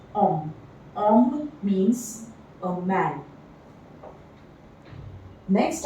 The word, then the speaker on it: homme: like honest, are, but in French, all the words with H in them are silent. Okay. For example, homme. This word starts with an H, but it is pronounced as homme.